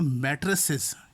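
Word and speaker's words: matrices: और अगर प्लूरल में जब हम बोलेंगे, प्लूरल में जब हम प्रोनाउंस करेंगे तो मैट्रिसेस, याद रहे मैट्रिसेस हम ये प्रोनाउंस करेंगे।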